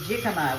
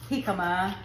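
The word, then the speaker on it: jícama: So we don't say jikama. We don't say jalisco, we say halisco and we say hikama.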